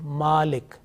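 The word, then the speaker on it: مالك: And in order to prolong the mim sound, you have a vertical fatha on that one, and it is a malik. So malik in nas, the first example, and then malik, which is a bit longer voice, and it means master, maliki yawmiddin.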